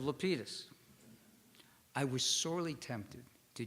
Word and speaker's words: Lapidus: helped organize the event he mispronounced my name saying Lapidus instead of lpus I was sorely tempted